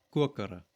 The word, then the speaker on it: kokere: You would say something like ik koke and ik kokere, that is, I cook and I cooked. Now, I'm pronouncing it as kokere, but this actually comes from an older d sound.